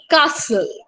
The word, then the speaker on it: castle: the subject the caster it is pronounced as castle the t is silent we'll just look at